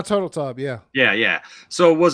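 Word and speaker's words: Turteltaub: national treasures john uh how do you pronounce that again it's is it turtle tab turtletop yeah john turtle tub yeah yeah yeah so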